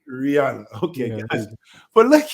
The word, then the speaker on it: Rihanna: But we don't hear from Renaya. I don't know how to say her name. What's it? Rihanna? Rihanna. Okay. Oh, it's Brianna? No, Rihanna.